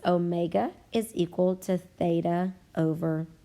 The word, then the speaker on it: omega: this symbol omega and we are going to pronounce it omega you might think of it as a w but w will represent a different variable in the future so please train yourself to call it omega this stands for angular